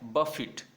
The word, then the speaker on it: buffet: Second word जो है BUFFET, इसको जब वर्ब में बोलेंगे तब इसका प्रोनाउंसिएशन होगा, ध्यान से सुनना है, बफिट। क्या होगा? बफिट। यानी इसमें टे का साउंड लास्ट में आएगा और जो बीच में क्या आएगा?